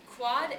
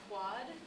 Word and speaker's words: quod: So it stands for quad Quite easily. erat. That'd be like quod, not quad.